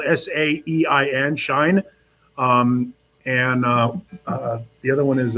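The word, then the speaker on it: Saein: It's spelled S-A-E-I-N, Shine.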